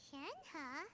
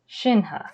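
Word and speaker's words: Shenhe: there we go uh are you all right shanghai my name shinha okay so that's how you pronounce it i've heard about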